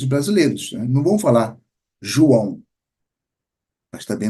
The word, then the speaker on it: João: Não vão falar João, mas também não vão falar Juan. Então, os galegos falam o quê? João.